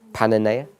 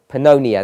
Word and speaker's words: Pannonia: is that's my pronunciation pan Ania is that correct no Pannonia that sounds about Pannonia